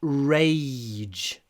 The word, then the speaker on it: rage: In this word, there is a lot of y. Rage. Before the ch at the end. To be honest, the j at the end, it's not even like a dr. It's not very voiced, but the y is long.